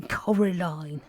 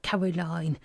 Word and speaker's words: Coraline: name wrong you know they keep saying Coraline not Caroline not Caroline at all he picked up a